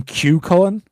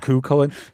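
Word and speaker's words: Cú Chulainn: podcast on him and we just completely mispronounced it. They called him we called him Q Colin the whole time rather than Kullin.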